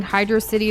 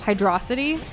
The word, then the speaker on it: Hydrocity: Am I in the minority for pronouncing Hydro City the same way you pronounce velocity? Yes. Hydrocity instead of Hydro City?